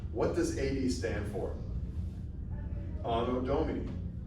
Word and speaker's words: Anno Domini: Anno Domini. That's how you want to pronounce it. You want to use church Latin, you want to use like classical Latin.